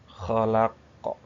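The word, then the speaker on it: خلق: Kalau ini kita bacanya kolkolah. Dikolkolahkan kalau berhenti, huruf terakhirnya disukunkan jadi kolkolah. Falako, falako, falako. Nah, falako. Terus kholako, kholako, kholako.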